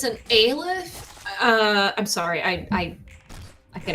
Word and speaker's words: Aleph: I'm so sad that I looked up how to actually pronounce that word. Aleph does sound so much better.